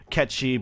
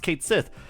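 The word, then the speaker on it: Cait Sith: war or um Celtic as a language or katchi being the original way to pronounce the name he like you're talking there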